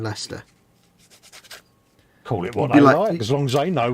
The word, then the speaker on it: Leicester: we imagine this says somebody said yes i'm just driving down to lychester what do you mean leicester as long as they